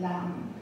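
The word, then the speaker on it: لا: with 1,000 letters, 1,000 lam alifs, and the lam alif is pronounced la, and la means no in Arabic, so it's 1,000 times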